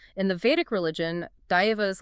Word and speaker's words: Daiva: For instance, both traditions worshipped supernatural beings they referred to as Daiva, pronounced Daiva, that means gods, and Ahura, which roughly translates to supreme beings or lords.